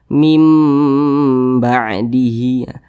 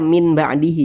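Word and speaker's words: من بعده: dirubah menjadi huruf mim jadi kita baca mim ba'dihi Jangan dibaca Min jangan pakai n nanti jangan dibaca Min ba'dihi jangan tapi dirubah menjadi mim mim ba'dihi didengungkan dua harakat atau kira-kira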